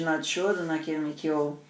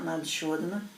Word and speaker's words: Nadi Shodhana: Em termos de Nadi Shodhana, o vídeo que eu mando na ficha Ayurveda, que é a respiração alternada, tem um vídeo meu sobre isso. Se escreve N-A-D-I, espaço S-H-O-D-A-N-A, Nadi Shodhana, que é a respiração alternada.